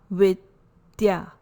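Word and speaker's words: avidyā: permanent this is a withya pronunciation is with the soft the sound soft dental second sutra is about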